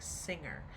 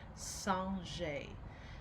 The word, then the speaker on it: singer: method is called sanjay now i know it looks like singer but since it is french we pronounce it sanjay and so this method